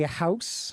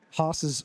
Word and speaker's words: HOS: We like to say house. House, okay. HOS is acceptable, though.